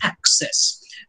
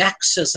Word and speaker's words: access: are i'm big although the modern pronunciation of access places the stress on the first syllable it's access most modern day actors would say uh stop up the access and passage treating that